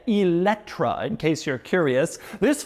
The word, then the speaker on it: Eletre: and we start with its name which is pronounced eletra that's how it's said eletra in case you're curious this follows a tradition